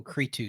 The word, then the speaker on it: Cretu: the the the the artist's name is michael cretu c-r-c-r-e-t-u i believe is how you pronounce it um he's put out a bunch